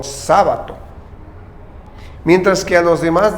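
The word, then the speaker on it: Σάββατο: Kyriaki, y el sábado, al cual lo pronuncian como sábato.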